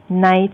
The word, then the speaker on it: night: ค่ะในสไลด์นี้นะคะอาจารย์ดอนน่าก็พูดถึงการไม่ออกเสียงนะคะสระในที่อาจารย์เรียกว่า silent letters นะคะอย่างเช่นในคำว่า receipt นะคะจะเห็นว่าสะกดด้วย pt แต่ว่า p ไม่ออกเสียงนะคะเป็น receipt แล้วก็คมนะคะก็ไม่ออกเสียง d night ก็ไม่ออกเสียง k นะคะ scent ก็ไม่ออกเสียง c autumn ไม่ออกเสียง n